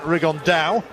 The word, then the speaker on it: Rigondeaux: That's coming up in about 3 weeks, and Tete's talked about fighting Rigondeaux, or as he's correctly pronounced with the Spanish accent, Rigondeaux.